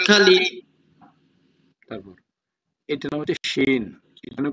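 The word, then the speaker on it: شين: শিনের উচ্চারণটা কিরকম হবে শিনের উচ্চারণটা হচ্ছে শিনের সাউন্ডটা হচ্ছে সাব যখন ভয়ঙ্কর করে রাগ দেয় সাব যখন রেগে দেয় তখন একটা সাউন্ড করে ঠিক না ভাই তদ্রুপ শিনুর উচ্চারণটা ওরকম হবে শিন শিন শিন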